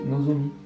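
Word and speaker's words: 望: Cet idéogramme bo, quand il est seul, ça se dit nozomi.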